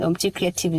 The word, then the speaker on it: Omuti Kreativ: So anywhere that you type, and Omuti Kreativ is spelled as OMUTI. Creative is with K. It's creative. It's KRE. It's already creative itself. Yeah. KREATIV.